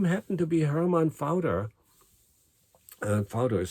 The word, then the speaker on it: Pfauter: guy uh whose name happened to be hermann fowter father is spelled p-f-a-u-t and you can google that